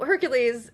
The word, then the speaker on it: Hercules: Uh so, Hercules or Heracles, depending on how you would like to pronounce it, um was one of my favorites.